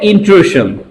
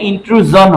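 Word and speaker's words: intrusion: করেছে, ঢুকে গেছে, তাহলে ইন্ট্রুশন, ইন্ট্রুশন এটা বাঙালিরা বলে, ইন্ট্রুজন হয় উচ্চারণ, ইন্ট্রুজন, হ্যাঁ ইন্ট্রুজন ড্যামেজ,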